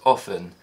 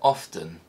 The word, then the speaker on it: often: in english so if the letter t is silent in the word often why do some speakers pronounce it often this is an example